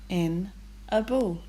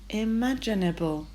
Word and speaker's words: imaginable: We don't say mag, we say madge. So the g sound is a j. Imaginable. Imaginable.